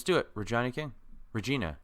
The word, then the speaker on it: Regina: it we're Johnny King Regina Regina sorry I lived in Regina minus so it's in my it's I only pronounce it the Canadian one okay this movie's coming